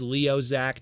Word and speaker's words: Liokaiser: those as well so you got lioac the leader also known as Leo Zac depending how you want to pronounce it the Japanese way um he turned into